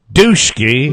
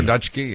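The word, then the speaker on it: Dutschke: How would you pronounce D-U-T-S-C-H-K-E? Everett Duschke. Duschke. Or Dutchke.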